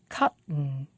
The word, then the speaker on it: cotton: english speakers say button cotton can you hear it when the word has a a t and a vowel and an n at the end we make a glottal stop and we don't say